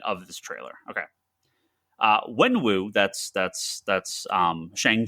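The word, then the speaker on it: Wenwu: the official announcement of this trailer okay uh when woo that's that's that's um shang chi's father in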